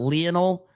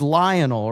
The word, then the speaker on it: Lionel: Isn't it Lionel Messi? Isn't that how you say it? Not Leonel. It's Lionel, right? Lionel Messi, and he said Leonel.